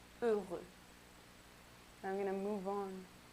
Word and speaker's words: heureux: And if it starts with an H, you don't really say heureux, you say heureux.